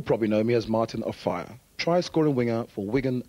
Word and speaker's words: Offiah: His surname is pronounced Offiah, but the English press call him Offiah.